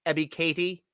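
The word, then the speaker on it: Ebiketie: on that thank you kayla for correcting us ebby katie is how it's pronounced i appreciate the phonetic help i i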